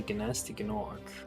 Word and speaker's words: Gnasty Gnorc: So besiegen sie Gnasty Gnorc. The same thing. Oh, is that him? Oh, I see. So you race along and you platform a lot of bits. The G is silent.